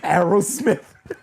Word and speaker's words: Aerosmith: Wars either that's me why do you say it like that what Aerosmith what's their name is it an Aerosmith that's why I asked it twice he split it into words same thing Arrow Smith it's Arrow Smith Aros Smith there